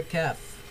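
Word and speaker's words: ك: on to the letter calf the letter calf is pronounced like the English consonant K and it is written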